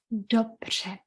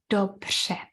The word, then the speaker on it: dobře: Only a few languages in the world have this sound. Quite difficult. Don't get frustrated if you can't get it straight away. It takes a lot of practice. Dobře.